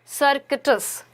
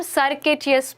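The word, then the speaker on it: circuitous: सर्किटस। ठीक है, इसको हम सर्किटियस भी बोलते हैं। तो चलिए इसकी सही स्पेलिंग हम नोट करते हैं, CIR, ठीक है, CUITOUS। इसको इजी, ताकि आप स्पेलिंग समझ जाओ ना, तो आप इसका प्रोनाउंसिएशन ऐसे भी कर सकते हो, सर्क्विटस, तो आप इसको इजीली प्रोनाउंस कर पाओगे और स्पेलिंग को भी आइडेंटिफाई कर पाओगे।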